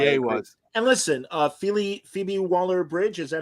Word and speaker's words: Phoebe Waller-Bridge: And listen, Phoebe Waller-Bridge, is that how you say her name?